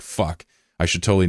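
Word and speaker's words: phở: Also, they pronounced fo as fu, which I didn't know. I didn't know that until actually like two days ago when my girlfriend said it. I was like, "Fuck, I should totally not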